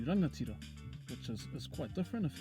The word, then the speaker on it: rangatira: So if we take the word rangatira, you can hear the ng sound in there, although in Tūhoe or Eastern Bay of Plenty they might pronounce it as ranatira, not really pronouncing the ng as much and preferring a n sound. Kaitahu or Te Waipounamu, they sometimes change the ng sound to k, so they might say rakatira as opposed to rangatira, which is quite